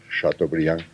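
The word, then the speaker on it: Chateaubriand: Y entonces abajo venía una pronunciación aproximada en castellano que se decía chato Brian o se decía el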